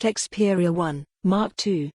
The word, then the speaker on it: Xperia 1 II: the Xperia 1 to which for the curious and/or confused is pronounced Xperia 1 mark 2 which isn't at all